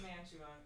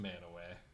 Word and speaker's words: Mantua: It looks like Mantua. It's Manaway. It's pronounced Manaway.